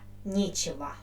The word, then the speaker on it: нечего: And the word with letter E, I pronounce with the stressed letter E, нечего.